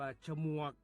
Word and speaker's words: ฉมวก: คำ ว่า ฉมวก ฉมวก เขียน ฉ ชิง หมอ ม่า ว แหวน ก ไก่ ร่วม กัน แล้ว อ่าน ว่า ฉมวก ครับ ฉมวก ที่ เป็น